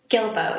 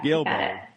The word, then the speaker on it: Guillebeau: Chris Guillebeau. Yeah. Guillebeau.